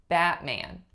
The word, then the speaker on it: Batman: I say Batman Batman so the rule for this one is that you unreleased your T if it's at the end of a syllable so like in our example of Batman I know it looks like with somewhere was in the word but the end of the syllable is the word bat Batman it would be